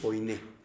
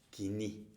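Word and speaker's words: κοινή: Muchos dicen koiné, pero realmente se pronuncia kiní, que literalmente significa común o vulgar.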